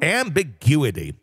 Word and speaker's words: ambiguity: more amb amb Ambu I can never say this word ambiguity ambiguity there we go ambiguity I always miss a syllable that I'm like ah